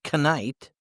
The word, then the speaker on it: knight: For example, if you say the K in night and you say knight, people might not understand you right away. But if you know that the K is silent, you'll sound more natural and confident when speaking English.